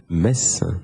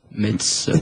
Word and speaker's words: Metz: Donc, petit cours de prononciation express, Victor, comment dit-on la ville, Metz. et non pas Metz.